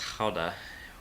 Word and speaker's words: Gouda: Ruth is reminding me that Gouda is actually pronounced Gouda with a guttural sound.